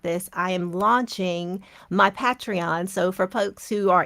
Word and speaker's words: Patreon: deep in the content so when you pronounce it because I don't know why I was saying patreon in my head oh okay patreon oh I'm sorry Patron Patron patreon yeah I like that let's not